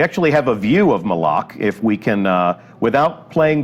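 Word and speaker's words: Malok: oryx's absence has left and that is Moloch malach right official pronunciation confirmed so if you hear anybody saying may lock send them right here to the archive of this stream our design leaders told us its malach we actually have a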